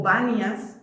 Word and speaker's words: Banias: En la lengua árabe, la letra, el fonema P no es pronunciable, entonces se le conocía como Ban o Banias o Panias, que era llamado así el lugar.